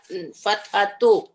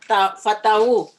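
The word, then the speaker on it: فتحوا: Fathatu. No. Fataha. Fatahu.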